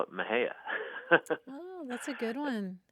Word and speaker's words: Mexia: a funny town here called Maha and it's spelled m x i a and I think if you're an out of town a Yankee you might be tempted to say Mexia right or some other but